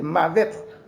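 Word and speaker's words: מָוֶת: La mort en hébreu, il sorti dans le mot ça qui c'est mavet.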